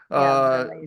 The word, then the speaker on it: Bramayugam: Have I pronounced it Bramayugam. correctly, Devi? Bramayugam.